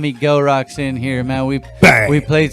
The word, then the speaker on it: Gel Roc: It's Gelrock, not Gelrock. Pronounced with a hard G for the appropriate introduction.